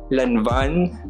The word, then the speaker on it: Lanvin: Lanvin, that's how you pronounce it.